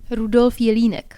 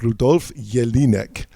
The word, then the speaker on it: Rudolf Jelinek: Rudolf Jelinek. Okay, Rudolf Jelinek.